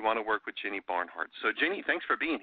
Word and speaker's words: Barnhart: And last name is Barnhart. I'm saying kind of like it sounds. Barn, like, you know, where you put your farm animals, and heart as in H-A-R-T.